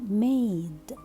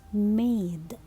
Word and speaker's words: made: remember my dear students when you have letter a which is followed by letter e so i will pronounce it a not mad no it's made so it's long a so i will pronounce it e i excellent so here i